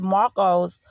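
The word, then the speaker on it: Macoux: now trevor had used marco's margot her last name is m-a-c-o-u-x now i know that you pronounce that it's marco um and if i'm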